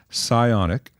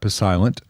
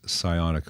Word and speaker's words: psionic: get confused it is psionic the p is silent it's not pilent it is Greek it